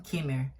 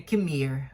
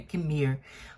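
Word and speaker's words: Qimir: E eu acho que várias vezes eu ficava falando Kimir. Alguma coisa assim, mas na verdade parece que é Kimir, né? Que é a última sílaba do nome dele, que é a sílaba tônica, assim, que você puxa, né?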